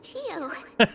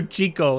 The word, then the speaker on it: Chio: My name is Chio. He said her name wrong. He called her Chico instead of Chio.